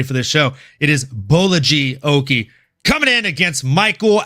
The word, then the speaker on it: Bolaji: We had a lightweight bout between Balaji Oki. That's how I used to say it until watching John Anik pronounce it and then listening to the Fighter File. And he says it Bolaji.